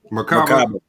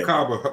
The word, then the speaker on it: Merkabah: How you pronounce it? Merkabah. Yeah. Merkabah.